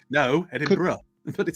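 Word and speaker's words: Edinburgh: are in Scotland yeah card bright Ki what Edinburg no edin BR but it says Edinburg no edin BR is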